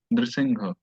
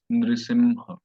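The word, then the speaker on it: नृसिंह: pronounced as Nrisingha or it could be Nrisimha. That could be allowed, but otherwise it's simple Nrisingha or Nrisimha. Nrisingha or Nrisimha. So it's not a mistake to say Nrsimha.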